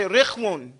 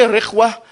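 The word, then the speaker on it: رخوة: No, not, okay, it's rikhwun, okay? It's ra, kha, and wow. Say rikhwun. Rikhwun. Or you can say rikhwa, but it's rikhwun is easier. We say it like that.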